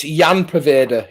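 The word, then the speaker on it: Ian Poveda: Oh, getting picked up by Daniel Robinson, the pronunciation king. It's Jan Paveda.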